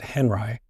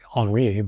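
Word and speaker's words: Henri: And um there was a famous um teacher/art named Robert Henry, excuse me, Robert Henry, probably originally Ro Enri, but he went by the American pronunciation.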